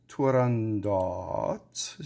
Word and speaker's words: Turandot: the same name he people who knew him said he pronounced it without the final T so he heard it